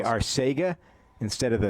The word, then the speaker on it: Arcega: The proper way to say it in Spanish is Arcega. Well, why don't you tell him?